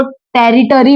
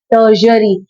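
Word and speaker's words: tertiary: काफी लोग इसको टेरिटरी बोलते हैं बट इट इज नॉट टेरिटरी, इट इज टर्शरी। The main pronunciation of this word is टर्शरी industry.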